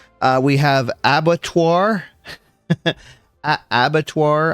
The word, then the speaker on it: abattoir: Uh abattoir, I believe is what it is what it's called. Um I looked up the pronunciation, so I think it's a French term for slaughterhouse.